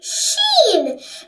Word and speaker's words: ش: This is sheen.